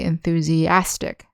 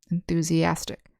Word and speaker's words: enthusiastic: And in the adjective form, we say enthusiastic, and the accent is on the second to last syllable, enthusiastic.